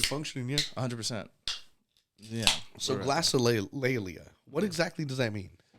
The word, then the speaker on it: glossolalia: So glossolalia.